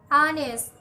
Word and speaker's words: honest: about the letter ha the letter is silent in the following examples honor honest our John oh ah 9